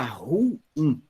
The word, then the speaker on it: ruim: Então, por exemplo, a gente fala aqui, em alguns lugares, a palavra ruim, você fala ruim, que é um termo oxítono. Então, a sílaba tônica é o in.